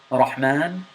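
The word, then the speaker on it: رحمن: And I want you to try to pronounce the ra with a little bit of exaggeration.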